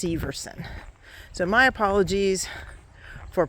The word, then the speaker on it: Severson: And I actually have been pronouncing it wrong. It's Severson. I was talking to the lady in the nature center earlier. It's pronounced Severson.